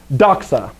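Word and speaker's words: δόξα: right place okay so here we go ready doxa doxace doxa very common word uh you probably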